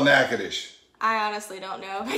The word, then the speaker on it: Natchitoches: right there all right naked-ish in a silent t that's right like it sounds louisiana french influence we got a lot of solitudes running around and then you got the ch like in chaos not like in church's chicken all right